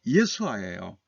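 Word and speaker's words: ישועה: 이 참 놀라운 것은 여기 내 구원에 해당되는 히브리어가요. 발음이 예수아예요. 여러분, 예수님의 히브리 발음이 예수아잖아요. 철자는 조금 다릅니다만 발음은 똑같아요.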